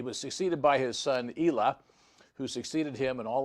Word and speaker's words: Elah: our descendants here of Jeroboam, whose name was Elah, E-L-A-H. Some pronounce it Elah, but he only reigned a short period of time too.